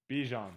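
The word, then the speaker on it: Bijan: so how do you actually say his name beon okay Bon B not Bon okay so this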